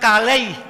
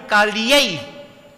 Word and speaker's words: Kaliyei: It's not Kalei, Kaliyei. It's a difference.